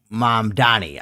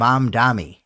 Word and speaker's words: Mamdani: Oh, Mom Donnie. See, I can say it right. Mark, uh, you know, he's got a little problem. Um, he calls him M Dami. I don't know why he can't say Mom Donnie, but whatever.